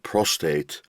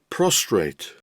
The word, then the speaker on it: prostate: you spell the word prostate so many people i speak to mispronounce this how do they pronounce it they pronounce it prostrate here's the word prostrate